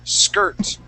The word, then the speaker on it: skirt: as a e sound we don't say skir we say skir skirt okay okay now um